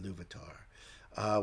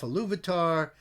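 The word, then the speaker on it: Ilúvatar: Now, Iluvatar, I think it's pronounced Iluvatar, when he created Middle-earth, his plan was for his children eventually, and they would be the elves, the firstborn.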